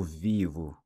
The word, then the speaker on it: vivo: So I live would be eu vivo. The O again pronounced like a U.